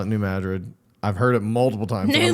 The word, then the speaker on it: New Madrid: It's New Madrid, the New Madrid fault line.